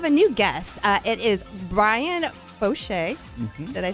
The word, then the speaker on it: Brian Foshee: It is Brian Foshee.